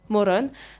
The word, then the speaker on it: Morón: Hola Christian, vous êtes né le 14 juillet 1989 à Morón, c'est dit Morón, près des Buenos Aires. C'est dit ma prononciation.